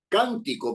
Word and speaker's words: cántico: hay que colocarle la cántico por ejemplo no cántico no esa esdrújula efectivamente Por qué Porque lleve el acento en la anterior a la penúltima can en la a tiene que ir necesariamente tildado necesariamente ahora si se trata de